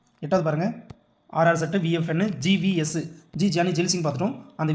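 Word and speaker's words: Giani Zail Singh: கியானி இல்லை ஜியானி எப்படின்னா ப்ரொனவுன்ஸ் பண்ணலாம். ஜியானி ஜெயில் சிங்.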